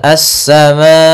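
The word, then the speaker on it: السماء: Kemudian pada lafal assama di sini asa ada alif lam maaf di sini salah menulis yaitu bukan qamariah tapi dia alif lam syamsiyah yaitu adanya alif lam yang ditulis dan dia tidak dibaca langsung ke sin-nya.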